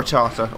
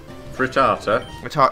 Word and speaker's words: Rattata: With the occasional Rattata thrown there, or Rattata, or however you pronounce his name. Rattata. If you're from the south, it's Rattata. If you're from up north, it's Rattata.